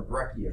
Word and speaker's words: breccia: you've been gone or breccia come from now here's the separation between those two conglomerates are rounded fragments breccia our angular fragments now that's one reason I say breccia because that's a hard C hang you and Fred